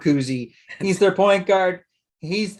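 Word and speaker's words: Kuhse: their best player tommy cousy it's spelled like k-u-h-s-e somehow he he got it just loved to say it like it's bob kuzie he's their point guard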